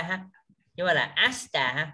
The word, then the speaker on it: 明日: À, cái từ này đọc là ashita ha. Nhưng mà là asta ha. Mình đừng có nhấn cái từ á làm gì.